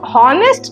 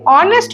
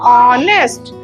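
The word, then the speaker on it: honest: लगा है एन क्यों क्योंकि नेस्ट नहीं ऑनेस्ट बोलते हैं क्या बोलते हैं ऑनेस्ट तो हमारा उच्चारण अ हुआ उच्चारण क्या हुआ अ ठीक है तो इसलिए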